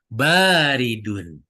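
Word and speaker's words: بارد: Awas bacanya. Baridun. Nah, betul. Baridun. Ya, karena ba-nya di sini ketemu alif, tanda mad baridun.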